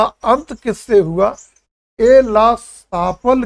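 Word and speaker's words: Aix-la-Chapelle: जैसे उच्चारण पढ़ते हैं, ला चैपल ये या ला चैपल्ले की संध, लेकिन सही रूप में पढ़ा जाता है ए ला सापल की संधि 1748।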